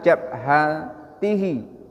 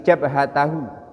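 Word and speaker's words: جبهته: meletakkan kedua tangan tma jabhatihi oh salah bukan jabhati tapi jabhatahu ini salah membacanya karena dia adalah maf'ulun Bih Aya rukbataihi itu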